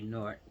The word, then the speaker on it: Newark: That's how we know if you're from Jersey. People say Newark. That's the way we know to say it. I don't know how to say it the other way.